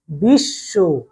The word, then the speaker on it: বিশ্ব: উচ্চারণটা আমরা করি দুইবার আমরা বিশব বলি না বিশব বলি না আমরা বলি বিশ তাই না উচ্চারণ করতে